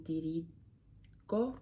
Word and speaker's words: dirigo: Mi alzo di scatto e mi dirigo, hard sound.